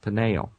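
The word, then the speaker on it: Peniel: that place panel uh p n i e l slightly different spelling panel almost identical pronunciation could be just a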